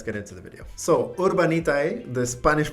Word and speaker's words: Urbanitae: So Urbanitae, the Spanish pronunciation for this name, which is urban, letter